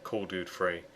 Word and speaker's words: Kuledud3: is going to be cured free or if you want to pronounce it properly call dude free but unfortunately he spelled